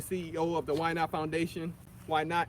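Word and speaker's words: YNOTT: of the waianae foundation why not it's spelt y-n-o-t-t and it's acronym for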